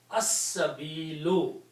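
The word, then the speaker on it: السبيل: Okay, so the word is al sabilu, but sin is a shamsi letter, so it gives the sound of lam, so it will be pronounced as-sabilu, one dhamma.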